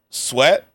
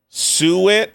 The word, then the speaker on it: suet: How do you say this? Sweat, spices and salt mixed with stock. Okay. I'm scared by this mixture. I'm not gonna lie. No! Suet. Oh, suet.